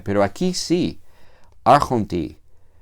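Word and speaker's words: ἄρχοντι: En el caso del logo, la iota está, se escribe, pero no se pronuncia, pero aquí sí, arjonti, es como se pronuncia la forma del dativo singular.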